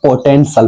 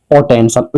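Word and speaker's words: potential: पी ओ टी ई एन टी आई एल इसको पोटेंशियल पढ़ा जाएगा। क्या पढ़ा जाएगा? पोटेंशियल।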